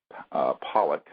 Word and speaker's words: Pawelec: a very important witness William John Pollock is how you say his last name although it's spelled PA W elec and this is a